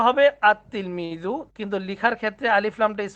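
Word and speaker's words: التلميذ: যেমন তিলমিজুন আতলমিজু উচ্চারণটা হবে আতলমিজু।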